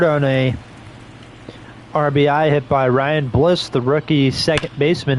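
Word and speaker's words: Raley: to say his name Luke Ry not Luke Riley not Luke Riley Luke Ry leading things off for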